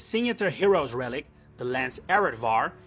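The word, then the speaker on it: Areadbhar: Heroes Relic the Lance arvar and yes it's pronounced like that is of Irish origin and translates the slaughterer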